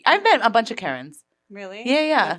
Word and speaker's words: Kerryn: People don't hear Karen. Yeah. The short E does not register. They decide I said Karen.